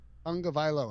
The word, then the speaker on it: Tagovailoa: let's get, and I find it fascinating, the idea that Tua Tagovailoa, Tonga Tung, Tung, Vailoa. Tagovailoa. All right, now I'm good. Now that I got that Tagovailoa, I won't mispronounce it again. Tua Tagovailoa.